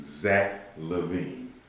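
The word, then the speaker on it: Zach LaVine: Zach Levine.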